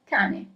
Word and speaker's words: cane: Okay, so really pay attention to the pronunciation. Okay, ready to start? So the first word is cane.